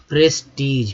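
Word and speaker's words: prestige: प्रेस्टीज PRE, प्री नहीं हो गया यहाँ, देखिए PRE से जब बहुत जगह प्री होता है, लेकिन यहाँ प्रे हो जाएगा, क्या होगा, प्रे।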